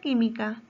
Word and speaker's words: química: ¿Y la palabra química, dónde lleva tilde? Química tiene la mayor fuerza de voz en la antepenúltima sílaba, qui, ¿verdad?